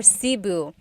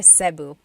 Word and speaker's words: Cebu: So, technically in the Tagalog alphabet, the letter E can be pronounced E or E, like the letter I. So, I say Cu. Cu. And I know some people say Sabu, but usually it's either Cebu or Sebu.